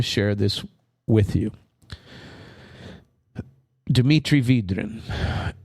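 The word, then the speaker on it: Vydrin: If I pronounce that correctly, it could be Vidrin, but I'm pretty sure it's Vidrin.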